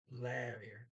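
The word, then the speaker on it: lærer: lair um that and that's again the AE in the first syllable I used to hear this wire here now I hear is gladier the the first is that a as in dad ah Larry and Larry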